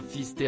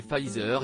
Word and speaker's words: Pfizer: En effet, celui-ci est nommé Pfizer et non fisté comme a pu l'indiquer le maire de Perpignan.